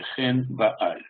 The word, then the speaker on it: Ганнибал: известное из них, понятно, Ганнибал, да? Вспомните, значит, главный персонаж, с которым воевали римляне, значит, давайте сообразим, что означает это имя. Его правильное произношение по-арамейски или по-финикийски будет «хен бааль».